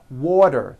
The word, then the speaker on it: water: Water is pronounced as water. The T turns into a D and the whole word is voiced.